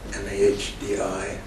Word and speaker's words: Mahdi: And they pronounced M-A-H-D-I as Mahdi. So I said, well, the least I can do is show them I'm sufficiently educated to be able to pronounce this fellow's name correctly.